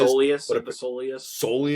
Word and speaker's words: soleus: I don't know how to pronounce the muscle in the calf. They're saying that it is soleus.